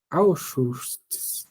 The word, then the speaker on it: Auschwitz: Como que pronuncia essa palavra? Auschwitz.